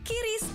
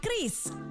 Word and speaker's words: QRIS: Ada yang menyebut QRIS, KIRIS, atau ORIS. Kepala Grup Departemen Kebijakan Sistem Pembayaran DKSPBI, Fitria Irmi Triswati mengungkapkan, pengucapan yang benar adalah KRIS.